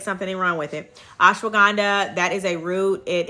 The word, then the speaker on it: ashwagandha: That is a constituent or the property within ashwagandha that makes it effective. So, um, it's so funny. I see people pronouncing that all different types of ways. Organ, but it's ashwagandha.